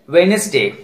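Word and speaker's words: Wednesday: एक और common word है वेनसडे, यहां भी धारा प्रवाह बोलने के लिए डी को साइलेंट किया गया है.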